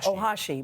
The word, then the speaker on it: Ohashi: Ohashi, because she just seemed to have such joy in her routines.